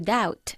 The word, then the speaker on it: doubt: To doubt. To doubt. Good. Con una B silenciosa. Have you ever dreamt in Turkish?